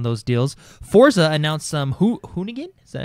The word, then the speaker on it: Hoonigan: Forza announced some Hoonigan? Is that how you pronounce it?